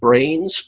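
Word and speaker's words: branes: even the word dimensions they prefer the term brains but you have to spell it b b-r-a-n-e-s it's not the thing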